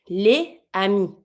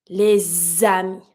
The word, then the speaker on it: les amis: Example, the friends, les amis. I have my S. Pronounce it like a Z. Les amis.